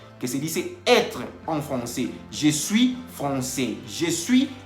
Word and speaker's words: français: La AI en francés se pronuncia E. Entonces, por eso dice Tomás que je suis professeur de français. Y no está diciendo, en ningún momento está diciendo que je suis professeur de francais. Así no se dice.